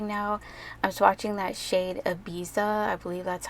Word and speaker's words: Ibiza: I'm swatching that shade Ibiza.